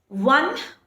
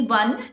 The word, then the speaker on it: one: One, O-N-E, one, though it starts with a vowel, it is pronounced as one, the, which is a consonant pronunciation. We don't pronounce one as on. Do we pronounce it that way? No. If we had pronounced one as on, then we might have used an with it. But no, we pronounce it as one, one, which is V sound.